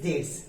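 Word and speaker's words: debts: Next देखें, a person who is unable to पे हिज डेट्स। देखिए, बी यहां पर साइलेंट है, इसमें बी नहीं पढ़ना, डेट्स नहीं पढ़ना है, बल्कि डेट्स पढ़ना है इसको।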